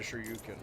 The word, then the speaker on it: Shoryuken: Maybe I am on baby mode, because I already forgot I had a Shoryuken. Piece of cake. Pronouncing Shoryuken like turducken.